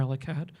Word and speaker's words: El Akkad: to be a guy whose real name is Omar Muhammad La'ed but is introduced as Omar Lakad because the ayin is unpronounceable in English.